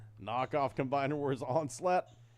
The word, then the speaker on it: Onslaught: Knockoff Combiner Wars Onslaught. $9. Yes. Yes, they call him something crazy too, like that. Onslut.